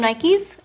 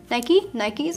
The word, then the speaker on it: Nike: I got new shoes from Nikes. Nikes, I said.